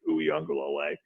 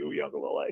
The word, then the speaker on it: Uiagalelei: And the first newsletter I did was, this is how you pronounce DJ Uiagalelei. This is how you say DJ Uiagalelei.